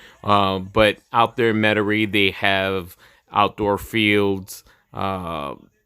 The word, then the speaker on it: Metairie: think that it's pronounced Metairie but it is it's obviously a French word um so we know